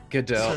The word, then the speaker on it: Gadot: It's pronounced This is Godot. Gadot.